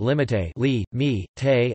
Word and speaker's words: limité: papa pa pa daddy, or Spanish limite li me te a limit, present subjunctive limite li me te that I he limit, and preterite limite li me te I limited.